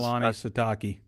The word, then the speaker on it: Kalani Sitake: I don't want to mispronounce his name because Kalani Sitake.